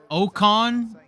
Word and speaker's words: Ocon: Ocon, is that how you say it?